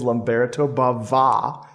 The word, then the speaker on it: Lamberto Bava: genre master who is lumberto Baba with a little uh an extra Accent on the a there one more incentive